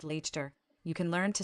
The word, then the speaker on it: Leicester: It's just Worcester, actually, like Leicester is just Leicester.